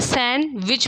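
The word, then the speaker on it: sandwich: word silent है सैंडविच सैंडविच हम लोग क्या पढ़ना है सैन विच पढ़ ना है डी क्या है साइलेंट है व्हिच लेटर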